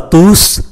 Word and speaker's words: tous: Bonjour à tous, je suis votre guide. Ở đây chúng ta để ý, bonjour à tous, chúng ta phải phát âm chữ S cuối của chữ T-O-U-S